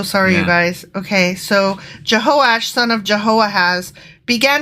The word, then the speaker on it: Jehoash: know what I apologize I mispronounced that it's jehosh jehosh but still jehoiah has to